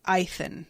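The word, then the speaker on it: Eithan: Audiobooks pronounced it Ethan, says Brian. Okay, I can deal with that because there's an I there.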